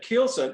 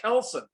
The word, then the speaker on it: keelson: And Carl turned to me and said, keelson, it's called kelson.